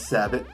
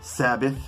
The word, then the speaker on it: Sabbat: It says Sabbat, not Sabbath. A lot of people are like, whoa, wait a minute, Sabbath. No. S-A-B-B-A-T. That's how it's spelled.